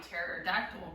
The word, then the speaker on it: pterodactyl: Why can't you hear a pterodactyl going to the bathroom? They're all dead. Because the P is silent.